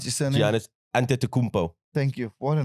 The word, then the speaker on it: Antetokounmpo: I still can't pronounce his surname. Giannis Antetokounmpo.